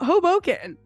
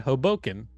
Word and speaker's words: Hoboken: Hoboken yeah you said Hoboken oh Hoboken but other people say Hoboken Hoboken no what are you you're saying I'm saying Hoboken like I'm putting the emphasis on the first syllable and you're going Hoboken